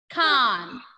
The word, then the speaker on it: Cannes: How will you pronounce it? Cannes. Ending letter S will be silent.